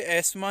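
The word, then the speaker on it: asthma: Guys हम इसे एस्मा ही pronounce करते हैं, एस्मा।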